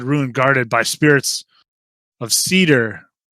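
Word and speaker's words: seidr: guarded by spirits of cedar not cedar as in the cedar tree but cedar s ooh boy s-e-i-d-r depending on how you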